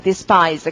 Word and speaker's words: despise: 강세가 저 뒤에 가는 거죠. 그래서 강세를 찍어보세요. 강세가 어디에 들어갑니까? despise. I에 들어가죠. 그래서 모음에요. 모음에 강세가 붙으면은, 강세가 붙는 모음은 항상 발음이 정해져 있습니다. 그러니까 I에 강세가 붙으면은 I로 읽는 거죠.